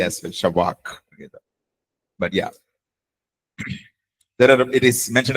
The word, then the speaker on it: shabach: Fourth word is shabak. Shabak. So when you say the last syllable, it should kind of come from your epiglottis. Okay. Okay. Shabak. Careful. Okay. SHABACH.